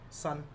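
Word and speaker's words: 新: Sun Well, that's sin. Sin. Yeah. Like, you know, mortal sin.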